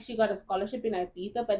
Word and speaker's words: Ibiza: He's the leader of the mafia in Ibiza, right? It's not Ibiza.